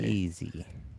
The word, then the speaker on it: Marchese: I think Marchese. he told us the right way to pronounce it. Oops. Sorry, Anthony. Marchese.